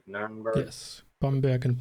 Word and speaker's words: Bamberg: Yes, Bamberg and Nuremberg.